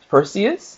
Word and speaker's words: Perseus: Perseus is how you say it.